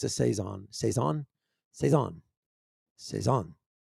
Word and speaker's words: saison: cezanne cezanne it's a saison that's how you pronounce it saison okay so uh wildfield's rustic field cezanne is